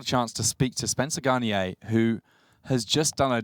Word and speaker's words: Garnier: I am here with Spencer Garnier. All the R's pronounced, we have learned.